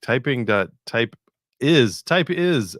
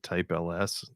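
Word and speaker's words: TypeIs: Type is, I think I pronounced it type ls.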